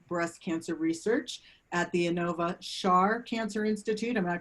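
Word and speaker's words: Inova Schar: She was recently named the Peterson Chair of Breast Cancer Research at the Anova Char Cancer Institute. Am I pronouncing that right?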